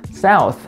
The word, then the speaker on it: South: South. TH 발음이니까 당연히 South. 이거 중요하죠. South 아니고 South.